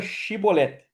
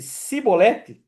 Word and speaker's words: chibolete: Se eles respondessem que não, então eles diziam assim: "Então diga chibolete". Se ele dissesse cibolete, né? Então a palavra pronúncia era muito parecida.